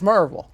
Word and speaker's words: Maryville: So this is Maryville, Tennessee. That's Maryville. That's Merville. Merville, sorry. Let me get it right. the way you said it right. Maryville, Tennessee. Maryville, Tennessee. That's exactly right.